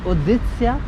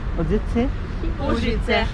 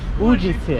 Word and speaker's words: Užice: How do you pronounce this city? Is it Uzice? Užice. Užice. Užice. Užice. इसका नाम है Užice. हम बोलते थे Uzice. No. Už. Užice.